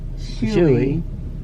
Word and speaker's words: Shuey: Shuey, is that how it's pronounced? Chewy, yeah.